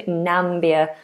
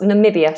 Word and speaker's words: Namibia: and we got all the way up to Nambia was the last. Namibia, sorry, I did that yesterday as well.